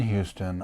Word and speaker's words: Houston: It's good to be back in Houston, as we pronounce it in New York City. I never heard that in New York City. Is that? Yeah, Houston Street.